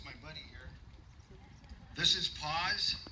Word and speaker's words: Paws: a rough start well i named him paws because it sounds like it's p-a-w-s but it sounds like the word paws p-a-u-s-e so every time i